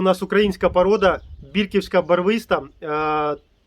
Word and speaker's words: бірківська: від назвою цього селища тому бірківська барвиста тобто наголос на першу і давайте Тепер правильно називати